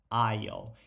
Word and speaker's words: aisle: Como é que eu pronuncio aisle? Assim, ó, aisle.